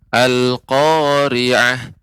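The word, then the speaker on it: القارعة: Ya, Bapak, pengucapan Al-Qari'ah cukup ditekan saja, diayunkan Al-Qari'ah, Al-Qari'ah.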